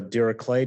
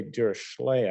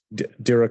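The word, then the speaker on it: Dirichlet: is based on the de clay distribution uh as I understand it that's the German pronunciation which is the way you're supposed to pronounce this but uh uh uh most people say deay I think but um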